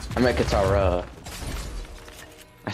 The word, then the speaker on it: Katara: Wait, that's not Kataru. That's... Not. I meant Katara.